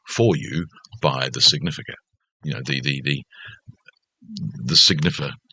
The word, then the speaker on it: signifer: The signifer. Signifer. I want to add an extra syllable. The signifier. No, that's not him.